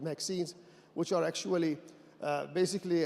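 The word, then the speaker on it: MXene: and this in actually was added by the inventors uh to to rhyme with graphine because a lot of the 2D materials people are we ring them with graphine so the name Maxine stuck and currently actually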